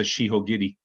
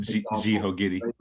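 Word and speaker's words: 四方切り: I mean, think of the kata shihogiri. Nobody, exactly. Yeah, they don't pronounce it jihogiri.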